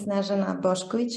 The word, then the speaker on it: Snežana Bošković: You pronounced it very well. Thank you. My name is Snežana Bošković.